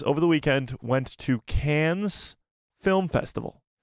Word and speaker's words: Cannes: the weekend went to can's Film Festival I believe it's just pronounced can film festival but I'm calling it can's can's Film Festival where